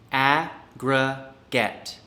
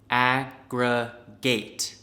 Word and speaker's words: aggregate: word number six aggregate aggregate has two main pronunciations we have one for the noun and other forms aggregate and one for the verb aggregate american pronunciation noun aggregate a gra get aggregate british pronunciation aggregate ah get aggregate and american pronunciation verb aggregate agra gate aggregate british pronunciation verb